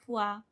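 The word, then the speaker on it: foi: Sempre que tiver OI numa palavra, nós vamos pronunciar o A, tá? O A. Como, por exemplo, na palavra moá, fuá, tá?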